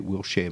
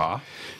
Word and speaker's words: Wiltshire: presence at his UK Wilshire mansion. He had previously claimed that he had seen UFOs. Now, particularly moved to this UK address in Wiltshire, pronounced correctly. Wiltshire.